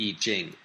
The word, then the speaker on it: I Ching: with the E Jing the character e is written as the letter i in the old way Gil romanization system and the Jing is spelled CH i n g in the modern pinin system it's written y i j i n g eing in English the iching